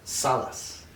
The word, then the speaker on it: Salaz: wrong okay how do i say it right salas today i'm talking with ken salas and uh